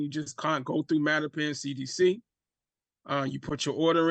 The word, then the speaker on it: Mattapan: Yeah, Mattapan CDC.